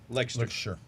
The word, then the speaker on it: Leicester: Leicester. Leicester. I apologize for my British Your English.